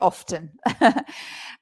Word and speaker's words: often: Yeah, I always say often. And you usually pronounce it, Francisco there, I usually pronounce it without the T sound.